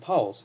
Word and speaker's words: pawl: are called ratchet and poles. This is a ratchet. That's the pole. It's spelled P A W L.